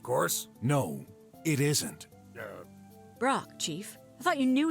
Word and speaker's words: Brok: about it go ahead say my name it's pork of course no it isn't yeah Brock Chief I thought you knew each other well